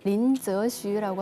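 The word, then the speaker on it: 林则徐: 네 그 인직서 중국 발음으로 린스유라고 하는데요 이분이 중국이 서양 선진의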